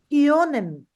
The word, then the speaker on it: können: It is not Conan. Here we are having O umlaut. Whenever O umlaut comes, we have to give the sound of yo.